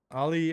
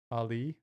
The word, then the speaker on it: Ali: Ali as in skateboarding, it's spelled A-L-I like Muhammad Ali. But I say Ali like skateboarding.